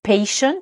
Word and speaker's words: patient: dans patient le T le premier t de patient se prononce comme nos lettres ch en français che donc vous voyez